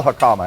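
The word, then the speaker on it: jicama: regular mushrooms what do we do with a hakama in a moment in a moment how do you spell hakama anyway j i c a m a j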